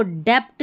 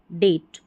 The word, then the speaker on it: debt: इसको डेप्ट नहीं पढ़ेंगे, इसको हम पढ़ेंगे डेट, ठीक है। कर्ज जो रहता है ना, इसको डेट पढ़ते हैं, डेप्ट नहीं।